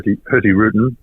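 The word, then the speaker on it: Hurtigruten: a look through her herty rutin um normally pronounced without G I'm told um is a is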